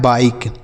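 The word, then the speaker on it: bike: अब आई के बाद एक अक्षर छोड़ने के बाद इ है। तो इस आई का उच्चारण आई होगा। तो हो गया बाई और के ई से क लिखा है बाइक। इसे क्या पढ़ेंगे? बाइक। इसे बी के या बी के कुछ भी नहीं पढ़ेंगे।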